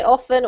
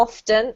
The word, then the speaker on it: often: So, guys, yeah, if you want to say often or often, either's fine.